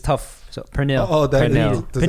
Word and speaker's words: pernil: So pernil. Oh, that Pernil. does it have that double Pernil. R? That Yeah. that tongue roll. Pernil.